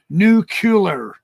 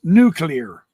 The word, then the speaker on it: nuclear: been being criticized too for calling it nucular nuclear it's nuclear I don't know how